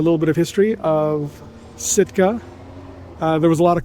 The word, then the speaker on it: Sitka: and then it's been renamed back to Sitka, or as I guess the natives would pronounce it, Shitka.